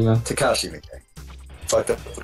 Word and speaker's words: Takashi Miike: just Travis and his buddy Bishop talking about Toshike Miike movies. Takashi Miike? Yeah. Takashi Miike. Fucked up the pronunciation.